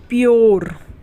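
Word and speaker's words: pure: उसी सी तरीके से पी यू आर ई इसमें भी यू के बाद आर ई है तो यू को यो पढ़ेंगे प्योर ठीक है उसी तरीके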